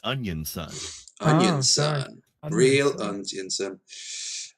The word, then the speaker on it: Onision: Mickey, you're saying it wrong. It's Onion Son.